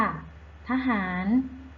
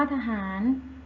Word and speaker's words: ทหาร: เธอ เก่ง มาก ค่ะ ทหาร ทำ ว่า ทหาร มี เรา เรือ เป็น ตัว สะกด แต่ ออก เสียง เหมือน นอน หนู จึง อยู่ ใน มาตรา